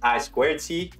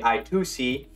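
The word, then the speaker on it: I²C: for inter-integrated circuit and notice how I pronounced it as I squared C some people say i2c uh but the more legitimate way is to say I squared C this is a synchronous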